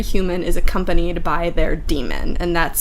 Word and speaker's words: Daemon: So yeah, one of the other notable things about this world is that every human is accompanied by their demon, and that's spelled Daemon, which isn't super important, but it's interesting.